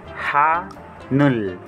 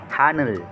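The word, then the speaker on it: 하늘: Kaya ang bigkas po nito ay Hanul. Hanul. Hanul.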